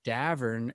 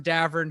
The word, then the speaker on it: Davern: so we get it it's davern it rhymes with cavern rhymes with tavern uh my mom doesn't